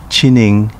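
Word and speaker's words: Chinen: 2006 with the merger of four towns sashki chinang tamagusuku and ozato pronounced sashi chining tamagushku and ufujatu respectively in uchinanguchi town pronounced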